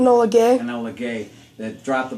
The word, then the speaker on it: Enola Gay: Just to add to that, if you want me to, the really highlight was the plane, the Enola Kai. I'm not pronouncing it. Enola Gay.